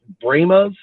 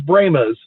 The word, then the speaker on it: Brahmas: reason they went with bramas their pronunciation of it spelled exactly the same but they chose bremas and that's always been